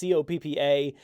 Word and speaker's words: COPPA: We're going to start off with this COPPA, however you want to pronounce it. It's COPPA, the Child Online Privacy Protection Act.